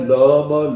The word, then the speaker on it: लं: इसका बीज मंत्र है ल म लम लाल रंग।